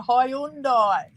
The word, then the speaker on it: Hyundai: it's like when anyone like a Hyundai and they call it a high I know I've heard people say it some other one and go it's not that it's a Hyundai it's a Subaru you say